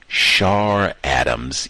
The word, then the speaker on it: Char Adams: Uh, well, she it's spelled CH, but she was on a panel, victim of racism, the author, and everyone said Charadams, even though it's spelled CH.